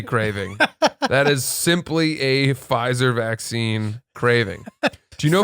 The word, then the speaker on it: Pfizer: there's also something about a silent p that i just love pfizer you want to say it pfizer but you don't silent p takes a